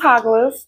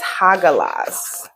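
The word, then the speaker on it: Hagalaz: Look, this is Haglas. Haglas. I think that's how you say it. Let me see. Oh, it's Hagalas.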